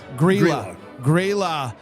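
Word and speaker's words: Grýla: got this information from is the Winter Witch, Gryla? How do you say it, Alonzo? Grilla? Grilla.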